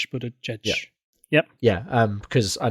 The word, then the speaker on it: Buttigieg: this in my head in my head I've been pronouncing him butgeig um yeah which hence